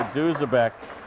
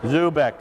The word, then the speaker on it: Zubek: a good save by Duzabek. Zubek. Okay, good. We finally got the correct pronunciation, Zubek, and again, I guess the D is silent.